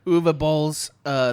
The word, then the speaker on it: Uwe Boll: My guess is this might be Uwe Boll's, which is how I'm supposed to pronounce his name. I was told Uwe Boll.